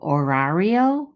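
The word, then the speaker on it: horario: those two words el horrario and el minotero remember the h is silent well as we go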